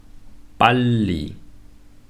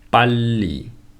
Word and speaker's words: 빨리: However, when it's followed by a syllable where there is 리을 on the top, please remember the bottom 리을 is dominant. For example, 빨리, 빨리, 몰라, 몰라.